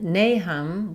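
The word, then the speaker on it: Nahum: In nahm, we have first syllable stress. And letter A says the A sound. Nam. Nahm.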